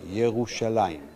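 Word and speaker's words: ירושלים: Jerusalem, surprisingly for us, is inscribed the same way we write it today and the same way we pronounce it today, Yerushalaim.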